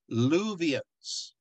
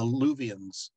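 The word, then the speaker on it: Luwians: what they are called what yeah they're called luvians although i'm gonna spell it this way l u w i i-a-n-s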